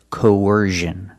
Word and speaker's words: coercion: the other one used I've only heard this pronunciation used with the z sound so it's coercion the first vowel is a long o like no and go co then you have the r sound like in Burger when we link these